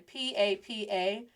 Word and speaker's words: papa: So the first one, sin acento, without the accent, is pronounced as papa. Con acento, with the accent mark, is pronounced as papa. Do you hear the difference?